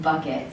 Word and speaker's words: Bouquet: from the Midwest for her last name is pronounced bucket so she doesn't know